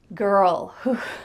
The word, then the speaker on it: girl: little bit tricky, so let's break this one down. Girl, girl. When you want to talk about the sound that an angry dog makes, you could say grr, grr, and then we're going to add ul at the end.